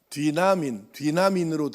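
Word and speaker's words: δύναμιν: 여기서 말하는 권능 또는 능력으로 번역된 이 단어는 헬라어 성경에 우리가 발음을 하자면 뒤나민으로 되어 있는데 뒤나민에서 두나미스가 나오는 거예요.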